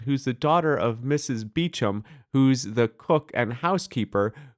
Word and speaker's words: Beauchamp: It's spelled Beauchamp. It's pronounced Beecham because England.